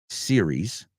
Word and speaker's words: series: The Da Vinci Code, Chronicle, TV series, que siempre se pronuncia series, aunque hables de uno, aunque hablas de 40.